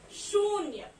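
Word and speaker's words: शून्य: And what you pronounce it is shunya. Okay, sh ko badi u ki matra shu, na ko ya ki matra nya, shunya.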